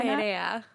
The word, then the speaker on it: Perea: Perea.